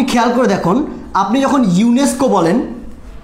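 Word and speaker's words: UNESCO: করে দেখুন আপনি যখন ইউনেস্কো বলেন আপনি যখন ইউনেস্কো বলছেন তখন কিন্তু আপনি এভাবে বলেন না ইউএনইএসসিও এরকম করে কি বলছেন আপনি একটা ওয়ার্ড আকারে উচ্চারণ করছেন ইউনেস্কো তাই না ইউনেস্কো তাহলে এই ইউনেস্কোটা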